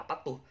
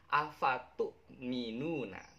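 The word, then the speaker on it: أفتؤمنون: Nah, tapi bacanya jangan apa tuh, tapi afatu'minuna. Kalau kita bacanya apa tuh, nanti dimarahin oleh Pak Ustadz.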